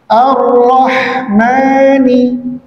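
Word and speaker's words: الرحمن: Ar-Rahmani, ha, ya, bukan kha, tapi ha. Ya, cara pengucapannya adalah sama seperti ketika selesai kita minum minuman yang hangat ataupun panas. Lagi minum kan, mana? Nah, itu pengucapan huruf ha.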